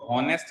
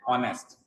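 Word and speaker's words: honest: ठीक है, तो इसको हॉनेस्ट नहीं पढ़ते हैं, इसमें एच साइलेंट होता है, इसको कैसे पढ़ते हैं, ऑनेस्ट।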